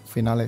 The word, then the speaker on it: Finale: New Edition dan juga Rexus Legionnaire MX 5.2 Finale atau Final, harusnya dibacanya Finale sih.